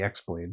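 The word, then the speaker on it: χ-blade: I mean the is Kingdom of Hearts the Keyblade which is spelled with the Greek lettered key so it's the X blade essentially was not forged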